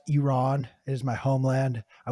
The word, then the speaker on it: Iran: when they come on not Iran not Iranian Iran well dude I am for Baltimore I have the worst accent freaking no you're fine every American says wrong I'm on a mission to correct every American when they come on this show it's Iran anyways thank you I